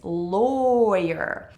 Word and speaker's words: lawyer: the second syllable lawyer Do you notice that I don't say? la Your if we just have the word la la W That's how you pronounce it la but when we talk about the career, it's lower Low, you're not la year Which is a big mistake that a lot of non-native English speakers make because looking at the